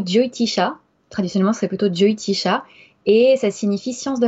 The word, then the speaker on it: Jyotish: de chacun alors effectivement en fonction des régions en Inde et en fonction des langues parlées tu vas le prononcer différemment moi je le prononce diotish dio parce que tu